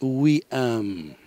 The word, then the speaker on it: Wayam: Sí, pues Guayán, bueno, primero quiero decir, es en árabe We Am, pero se escribe Guayán.